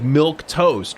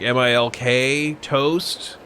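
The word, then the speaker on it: milquetoast: q-u-e i'm like okay it should just be like milk toast right like m-i-l-k toast like you're saying something is super bland right but then everybody's like oh actually it's it's spelled milk toast with a q-u-e it's milk q-u-e toast so when somebody's like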